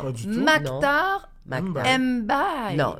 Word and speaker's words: Mbaye: Mbaye. Non, Mbaye. C'est vrai, Tu le prononces ou pas?